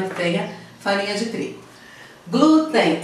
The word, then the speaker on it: glúten: ideia farinha de trigo glúten é paroxítona é e a porque a sílaba tônica é a penúltima terminar np mirim então